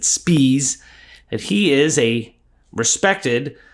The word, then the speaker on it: Spees: about Charlie Spees now the name is spelled s p i es you can understand why he may not want to go by spies he pronounced it spes that he is a